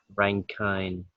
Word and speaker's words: Rankine: And we do have a Fahrenheit, Kelvin, Rankine, like ranking, it's a ranking.